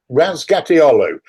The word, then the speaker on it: Razgatlıoğlu: Razgatlıoğlu. You Oh, don't thank you. pronounce the G towards the end, Yeah. which is a common thing apparently in Turkish.